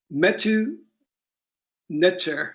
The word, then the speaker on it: Metu Neter: Metu Neter, or the Meduna Tarot, because we pronounce the T as a D in the Egyptian language.